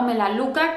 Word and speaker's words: Melaleuca: Pero la compañía que quiero presentarles el día de hoy es la compañía de Melaleuca o Melaluca, como lo pronuncian en algunos lugares.